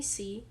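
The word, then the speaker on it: Cea: can also call me c that is spelt c e a and pronounced as c um but yeah that's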